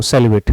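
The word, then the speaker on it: celibate: इसका सही उच्चारण 'सेलिबेट' है।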